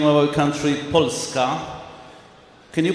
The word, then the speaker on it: Polska: We pronounce the name of our country Polska. Can you pronounce it in Polish? Polska.